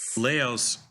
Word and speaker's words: Laos: Laos rhyming with house.